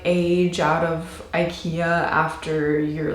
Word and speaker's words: IKEA: And then they just started laughing at us and just saying, it's not IKEA, it's IKEA. So I know that's how you're supposed to pronounce it in Swedish, but hey, I am not gonna do that.